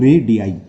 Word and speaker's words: radii: है रेडियाई की spelling, रेडियस का प्लूरल होता है रेडियाई, इसे बोलते हैं हम रेडियाई।